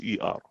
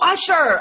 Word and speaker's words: Usher: spell it? It's Usher. Oh, Usher, Usher.